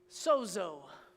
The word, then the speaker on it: sozo: mean to be saved and it's this word Soo look it up don't take my word for